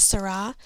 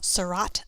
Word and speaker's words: Seurat: can go check out artists like Sarah George's Sarah he did a lot of pointillism but it's spelled Seurat so you can always think of it as Seurat the dot so this I'm gonna